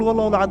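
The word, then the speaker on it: قل هو الله أحد: এখন দেখুন, এই যে সূরা ফাতিহা, অর্থ বুঝলাম না, একটা সূরা পড়ে গেলাম, কুল হুয়াল্লাহু আহাদ। কি কুল হুয়াল্লাহু আহাদ মানে কি? এটা উচ্চারণই বা কেমন করে করতে হয়? কুল, বলুন, হুয়াল্লাহু আহাদ, তিনি আল্লাহ এক।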